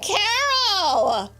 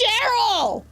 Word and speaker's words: Cheryl: It's not Carol. My name's not Carol. It's Cheryl. It rhymes with It's Chardonnay, Cheryl.